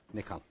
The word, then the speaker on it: Nikon: that Nikon call it, I may say Nikon. That's the right way to say it, by the way. Okay. I had a Japanese student, and I asked her, and she said Nikon.